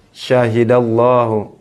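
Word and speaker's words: شَهِدَ اللّٰهُ: Syahidallahu. Syahidallahu. Perhatikan di sini. Ini ada fathah sebelum lam yang ada dalam lafaz Allah. Jadi dibaca syahidallahu.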